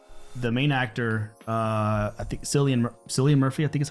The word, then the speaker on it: Cillian Murphy: But the main actor, I think Cillian Murphy, I think is how you say his name.